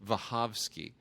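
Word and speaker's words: Wachowski: him and her but we say we say wowski right we say wowski well I was corrected on that at one point by someone who speaks Polish who said it's pronounced vavi well nobody's going to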